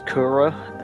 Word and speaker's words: Kharaa: I think it's they're pronouncing it Kyra in the new one, but Kyra is how it's spelled and I think that's how they pronounce it in this one.